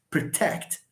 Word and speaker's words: protect: we have two syllables stress falls on the second syllable protect you don't say Protect protect protect protect that's how you pronounce it is that clear ladies